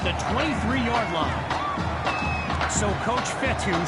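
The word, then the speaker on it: Fetu: 23-yard line so coach fethu spelled f-e-t-u for the longest time i was pronouncing the coach feta like feta cheese so let's just say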